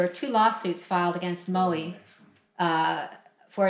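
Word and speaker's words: Mowi: Farms owned by the Norwegian company Maui or as they would pronounce it Maui lost 2.6 million fish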